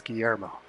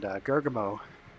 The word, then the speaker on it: Guillermo: get your name right my name is guillermo and gergamo is the worst pronunciation of my name which is why i